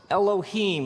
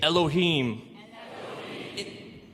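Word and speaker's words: אלהים: it would look something like this and it's pronounced Elohim let me hear you say Elohim in the beginning Elohim created the heavens and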